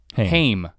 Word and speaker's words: Haim: But if you listen to the first, I actually don't know, is it Haim or Haim. How do you say their name? Haim.